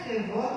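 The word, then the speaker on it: כבוד: Aqui está até kevod, mas é kevod a pronúncia.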